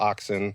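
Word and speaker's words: auxin: bud where we have the most amount of oxin. It's a u x i n is how you spell it.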